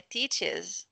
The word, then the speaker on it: teacher: teacher pits é grátis não tem r aqui é teacher teacher então coloca o cursor